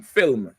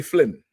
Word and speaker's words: film: I ask him Benjamites we have a problem saying um film like I looked at A film, like a movie, we say flim.